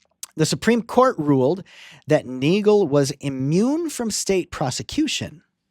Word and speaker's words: Neagle: It involved a US marshal named Neagle, right? Spelled like beagle but with an N, who shot and killed a man to protect Supreme Court Justice Steven Field.